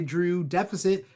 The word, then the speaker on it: Drew X Deficit: Drew Deficit, a.k.a. it's spelled Drew X Deficit, but the X is silent.